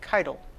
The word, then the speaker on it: Keydel: You know, I always want to put the emphasis on the last syllable. So this is the first time I've ever said Keydel.